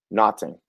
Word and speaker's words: Naughton: The next guy, keeping Kyle Naughton.